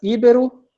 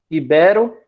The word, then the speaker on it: ibero: Nesse segundo caso, seria Ibero, Ibero ou Iberô? 1, 2 ou 3, nesse caso aqui. É 2, tá?